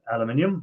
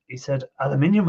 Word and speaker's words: aluminium: bits off, so it's nice clean aluminium or aluminum, whichever way you want to pronounce it. I think Mike was live the other day, and he said aluminium instead of aluminum, or which way?